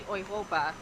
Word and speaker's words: Europa: to do it again while you hear English speakers call it Europa Park it is actually oyopa I believe is the correct way to say it so we're at